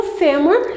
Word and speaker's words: fêmur: né do corpo humano o fêmur ele é uma paroxítona porque ele tem a sílaba tônica aqui e ele é terminada